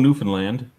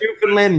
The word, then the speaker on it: Newfoundland: But anyway, Newfoundland, not Newfoundland. Newfoundland, fuck you. Okay. I've been saying it wrong.